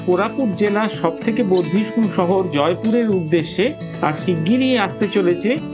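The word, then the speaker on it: Jeypore: ইংরেজি অক্ষর দেখে জেপুর মনে হলেও এর আসল উচ্চারণ কিন্তু জয়পুর।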